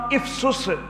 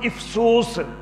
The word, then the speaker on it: افسس: اس شہر کا نام افسس اور دوسرا تلفظ افسوس.